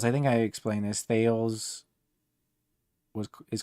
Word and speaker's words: Thales: Thales is called like the father of science and everything. You can look up Thales. It's Thales. I just say Thales because that's how it's spelled, but it's Thales, Thales.